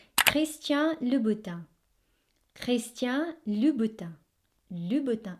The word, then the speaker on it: Christian Louboutin: So it's Christian Louboutin.